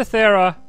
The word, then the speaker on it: Thera: We've got a fish on a string, and it's taken us to Thera. Or Terra. I mean, I can't remember how they pronounced it. I think it was Thera. It was Thera.